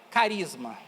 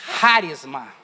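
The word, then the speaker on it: χάρισμα: E não é carisma. Não é carisma. É harisma. Harisma. A pronúncia é essa. Harisma. Olha onde está o acento.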